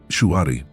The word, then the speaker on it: Shuhari: Shuari. Three syllables that hold the key to every mastery path the modern world has forgotten. Shu, obey, huh, break, re, transcend. At first glance, it sounds simple.